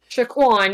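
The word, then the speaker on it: Saquon: at least sorry um shaan that's how you say it Barkley Shaquan yeah Shaquan Barkley 100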